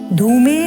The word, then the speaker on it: धूमे: प्रथम पंक्ति, धूमे, ध में आप देखिए ऊ का जो स्वर है वो दीर्घ है और म में ए का स्वर है, तो हुआ धू में।